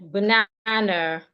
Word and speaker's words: banana: We have the word banana. Banana. So for these type of words, we are stressing their second syllable.